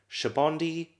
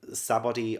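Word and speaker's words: Sabaody: Because I was saying Sabodi Archipelago, but I think it's Shabondi Archipelago. I think that's actually how it's pronounced, I think.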